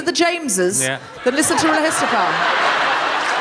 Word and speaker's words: RHLSTP: Are you more of a Guilty Feminist fan or a RHLSTP fan?